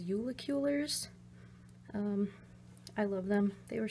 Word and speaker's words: Julekuler: I absolutely love these I think the pronunciation is yulik Euler's I love them they